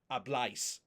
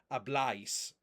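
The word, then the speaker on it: habláis: If you don't have that accent, then it's pronounced ice. Ablice. But that's not how it's pronounced. It's obl.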